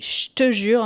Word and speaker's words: je te jure: Après, on a je te jure, je te jure qu'on va prononcer je te jure un peu comme un ch.